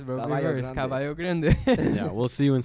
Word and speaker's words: Caballo Grande: Caballo Grande.